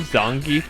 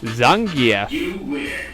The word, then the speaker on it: Zangief: I believe Zangief does something as well. Or as the guy in Super Street Fighter 2 always said, Zangief.